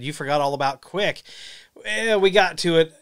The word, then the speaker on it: QUIC: that real quick hahaha spelled differently but quick uh quic pronounced quick it's a it's a